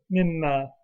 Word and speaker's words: مما: That's equal to min plus ma. So min, ma, those eat. It's mimma, is how they say it. Mimma. It's shortened. The The noon is shortened into the mim. So we say mimma.